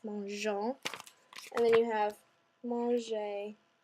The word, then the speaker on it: mangeons: But if we left it with just the ONS, it would make a really hard G like mangeons. So we stick an E in there to make it all flowy and sound soft and pretty.